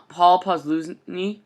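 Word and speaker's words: Posluszny: of them uh and I believe it's posos yeah uh Paul posi I believe how you say it um plus two wear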